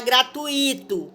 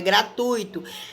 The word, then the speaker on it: gratuito: a palavra gratuito que a maioria fala gratuito coloca o acento no i' na verdade essa palavra não tem acento ela é ditongo então é gratuito eu já vi no